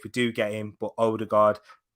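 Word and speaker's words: Ødegaard: do get him but older guard martin erdogan that is how you pronounce it um so yeah with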